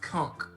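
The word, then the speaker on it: conch: are familiar with a con shell right I am the mystical con from SpongeBob okay that word is universally mispronounced okay supposed to be pronounced Kunk Kunk because there is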